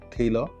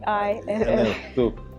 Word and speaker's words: Taeillo: So today we have Jumoke Dada of Taeillo.